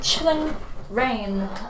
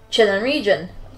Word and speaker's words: Chilling Reign: Because I thought it was announced as Chilling Region. Because I don't know, I thought the spelling looked like it was said to region.